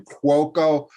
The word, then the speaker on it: Cuoco: Let me pronounce that again. Cuoco. It's a nice Italian name, but I have to pronounce it because it's a little tricky phonetically and also spelling wise.